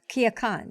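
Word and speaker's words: Culiacán: right and you recently uh recently visited uh kia khan right if am i saying it right yeah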